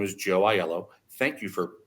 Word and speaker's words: Aiello: But when someone says, "Hello, my name is Joe Aiello," thank you for pronouncing it correctly, by the way, Rebecca.